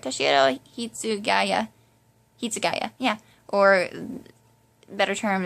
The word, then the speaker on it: Toshiro: this case, Toshiro, yeah, I said it right, Toshiro Hitsugaya, yeah, or better term is he's the captain of the 10th Division.